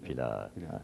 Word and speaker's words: plağı: değil plağı da değil plağı gönderdim yumuşak G orada yumuşak G haysiyetine uygun şekilde telaffuz edilecek turanı oluyor şeyde Yavuz